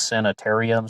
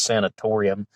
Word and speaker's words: sanatorium: in america but um i was always calling it waverly hills sanitarium so excuse me if i slip up but they do spell it with a no so it's sanatorium and i learned about